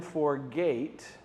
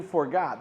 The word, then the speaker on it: forgot: The first time we do forgot, the second time forgate, which rhymes with great.